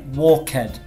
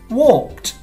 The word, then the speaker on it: walked: The ED, it doesn't make ed. So we don't say walked. It's walked. A really small t sound.